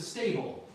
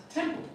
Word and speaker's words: temple: Uh I thought you were saying uh I took I took him to the stable. Um stable is a place where horses live. You meant temple, right? Which is a religious uh yeah place. Right. There you go. So, for whatever reason, you got the S sound at the beginning.